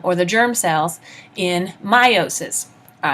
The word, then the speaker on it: meiosis: to talk about meiosis sometimes you'll hear it called meosis depending on who is teaching it and where they're from and how they pronounce it but meiosis or meosis your choice just like tomato or tomato um what we're talking